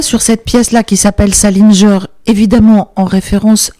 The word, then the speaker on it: Sallinger: Comme on parle d'Amérique, j'insiste quand même sur le titre qui me procure quelques difficultés de prononciation, donc Salinger, mais ça s'écrit avec deux L, hein.